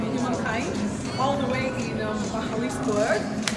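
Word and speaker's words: Magaliesburg: And we're here at the Cradle of Humankind, all the way in Mahaliesburg. That's how it's pronounced, even though it's spelled Magalizabeth.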